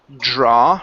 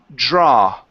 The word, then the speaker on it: draw: is uh the word draw right here instead of dra okay end with an a not an O It's draw dra to draw to draw